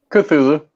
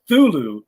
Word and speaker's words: Cthulhu: Cthulhu. Yeah, me too. We're getting a consensus here. Frank. Yeah, I've always gone Cthulhu. I've heard Thulu before, but I don't know that the C is silent.